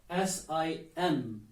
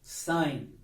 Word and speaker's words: sine: Short forms of these are sine word we write as sin. The word in English we pronounce as sin. But in trigonometry we read it as sine.